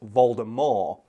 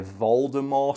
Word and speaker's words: Voldemort: all people don't know Voldemort is actually supposed to be pronounced Valda more guess the the French